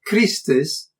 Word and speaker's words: Cristess: For example, the long E of Christus contrasts with the short I of Christendom, which occurs later in